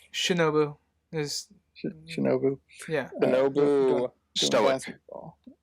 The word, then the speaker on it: Shinobu: Well, how do you pronounce his name? Shinobu is Shinobu.